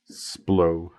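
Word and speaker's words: Splott: Splot. Splo. Is it splo? Well, no, it says a line from Yonto that the estate agents pronounce it splo.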